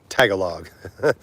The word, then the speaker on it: Tagalog: In English, it looks like Tagalog, and I've seen people say that or heard them say that, and I'm like, okay, I get it phonetically, but it's Tagalog, not Tagalog.